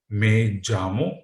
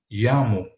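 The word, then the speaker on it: me llamo: see it here okay in reply you will say jammu or you can say yamu which means my name is okay first you have to say then you have to put your name for example vikram okay or i can say okay there is a difference of pronunciation right both are acceptable now coming on next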